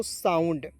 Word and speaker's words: sound: Next point देखते हैं SOUND, तो एस का उच्चारण स के रूप में, OUND जब भी आपको दिख जाए अंतिम में उसका उच्चारण हो जाएगा आउंड के रूप में, तो इसे पढ़ेंगे दोस्तों साउंड, आउंड जोड़ दीजिए तो हो जाएगा साउंड, होगा कि नहीं?